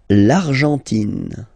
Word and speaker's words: Argentine: L'Argentine. Okay, so you've got this nasal here. En, l'argent, and then tin. Don't pronounce the final E. It just gives you the pronunciation of the N.